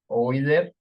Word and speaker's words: Euler: Entonces, es como los alemanes, los diptongos EU se pronuncia OI, entonces esto es Freud, OI, Euler.